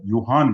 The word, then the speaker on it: Johann: So he's not, the correct pronunciation is Gregor Johann Mendel.